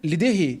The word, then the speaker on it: LDRRY: ó, Liderri. Liderri. Thierry, Henri, Ribéry.